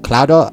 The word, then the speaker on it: Cloud: two NPCs named aith proudmore and I CL cloudo I remember I got to look and see remember how do they pronounce Crow crowd crowd crowd AR crowd so yes it's obviously